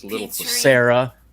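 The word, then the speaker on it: Cera: it's a little for Sarah or Sarah which I did not realize until I was an adult that's spelled c-e-r-a about 10 000 times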